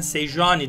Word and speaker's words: Sejuani: ben alıştığım için söylüyorum sen sejuani diyebilirsiniz Ama ince j harfi c diye okunuyor diye Ben seyrediyorum bir